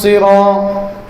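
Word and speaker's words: الصراط: তো যাই হোক, আমরা সদটাকে মোটা করব। আমরা অনেকে সদকে সিন করে ফেলি। ইহদিনাস সিরাত, এই সদকে সিন করে ফেলছি। হ্যাঁ, সদে যখন জের হবে তখন উচ্চারণ কম হবে, কিন্তু সিন হবে না।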